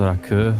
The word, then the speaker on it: rakı: And it's funny because like it's spelled Raki, I think, but like it's pronounced rakı, and the audio I